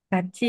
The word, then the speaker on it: 같이: Di sini ada nasalization. Huruf T ketemu I. Dibacanya gimana? Kaci ya, Sam.